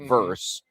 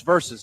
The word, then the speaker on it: versus: Someone just shortening the word versus to a singular symbol or syllable verse. But yeah, it's always been it's verses. It's a fun little factoid. Verses. Tell your friends it's verses, not verse.